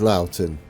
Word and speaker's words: Loughton: There we go, it is Loughton.